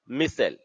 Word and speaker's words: micelles: इसका इंग्लिश में यदि बात की जाए तो MICE LLES लगा देते हैं, मिसेल, ठीक है? प्रोनाउंस है इसको करेंगे मिसेल, और स्पेलिंग इंग्लिश का अलग थोड़ा है, ठीक है?